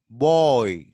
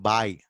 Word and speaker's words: boy: Boy. Boy. Not buy. We Telugu people will pronounce it as buy.